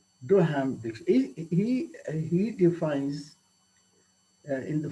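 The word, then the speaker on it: Duhaime: pronouncing this this is d-u-h-a-i-m-e doh ham he he defines in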